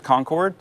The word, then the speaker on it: Concord: to say that that Concord New Hampshire is Concord that's fine you live here you establish the